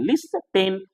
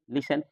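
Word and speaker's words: listen: कैसे-कैसे शब्द आते हैं लीशन जब बोलते हैं लिस्टन हम लोग पढ़ ते हैं लिस्टन जबक साइलेंट है ये लिसन कैसल कैसल मतलब महल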